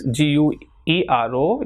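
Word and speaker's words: güero: So this GUERO will not be pronounced here as gay but guero, because it has got these two dots.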